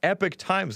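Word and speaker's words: Epoch Times: and it is pronounced epic times look it up and listen to how they pronounce it themselves i know it looks like epoch uh more eligible voters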